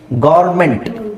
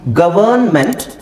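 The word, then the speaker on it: government: ಹೇಳ್ತೀರಾ ಗವರ್ಮೆಂಟ್ ಸರ್ ಗವರ್ಮೆಂಟ್ okay ಗವರ್ಮೆಂಟ್ actually ಇದರ ಉಚ್ಚಾರಣೆ ಏನು ಗೊತ್ತಾ ಅದನ್ನ ನಾವು ಎರಡು ತರ ಹೇಳಬಹುದು ಇದನ್ನ ನಾವು ಗವರ್ನಮೆಂಟ್ ಗವರ್ನಮೆಂಟ್ ಅಂತ ಹೇಳಬಹುದು ಬಟ್ ಆಕ್ಚುಲಿ ನಾವು ಯಾವಾಗಲೂ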